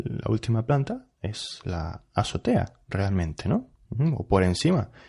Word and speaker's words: azotea: mal de la azotea azotea va con z con z azotea lo que pasa que los nativos que deseamos es decir que no pronunciamos la zeta pues pronunciamos esta palabra así azotea en azotea la azotea